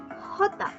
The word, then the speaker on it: jota: Moving on to J, it is pronounced as jota, jota.